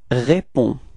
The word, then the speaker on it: réponds: And so you'll get the form je réponds. Repeat. Je réponds. All right. So the funny thing is that you've got to write this DS, but of course, as usual in French, you don't pronounce it.